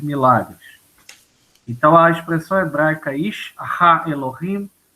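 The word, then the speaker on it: איש האלהים: Então, Ish Ha Elohim, o homem de Deus.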